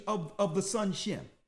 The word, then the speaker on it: Shem: of of the sun shim it's not sim it's shim right so now let's go